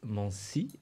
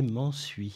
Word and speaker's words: Mansuy: Il s'appelle Didier Mancy. Je prononce bien ? Didier Mansuy. Oui, Mansuy. Merci Bonsoir Didier Brahim, d'avoir merci répondu de à l'invitation.